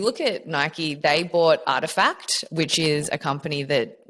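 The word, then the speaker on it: RTFKT: So if you look at Nike, they bought Artifact, which is a company that makes nets. I actually how embarrassing because I saw that they bought those obviously announced and everything they've bought Artifact, which is spelled something like r t f K Taylor.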